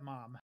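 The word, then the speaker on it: Maugham: called the somerset mom m-a-u-g-h-m I believe pronounced like you know Somerset mom uh and um and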